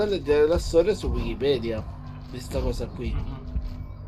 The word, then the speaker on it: Wikipedia: secondo la Crusca la pronuncia italiana dovrebbe essere Wikipedia. Ma con la V.